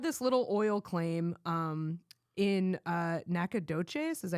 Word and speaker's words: Nacogdoches: So he had this little oil claim in Nacogdoches. Is that how you pronounce that? Yeah, Nacogdoches.